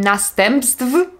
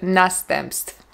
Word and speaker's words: następstw: Nie powiem następstw, powiem następstw. Tutaj akurat bezdźwięczna głoska ty wpływa też na głoskę wy, dlatego mamy tw, następstw.